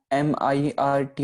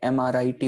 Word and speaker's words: अमृत: हम अमृत कभी नहीं करते, MIRT उच्चारण नहीं करते, MRIT उच्चारण करते हैं, ठीक है।